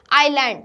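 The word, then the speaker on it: island: Then उसके बाद आइलैंड, तो आइलैंड में क्या है हमारा एस साइलेंट लेटर्स है।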